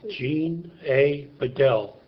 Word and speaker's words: Gene Badal: so that we've guided exactly how you would pronounce it yourself Jean a biguel perfect um so tell me a little bit